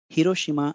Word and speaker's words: Hiroshima: look at the vowel sounds first word is Hiroshima Hiroshima if you pronounce it we have Divas sounds e o